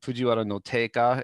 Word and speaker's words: Fujiwara no Teika: his name is supposed to be read um fujiwara no taka is how it's typically read although sometimes it's